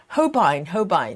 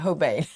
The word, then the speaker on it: Hobine: Suzanne, correct my pronunciation of how is it Hobine, not Hobane. I've been practicing.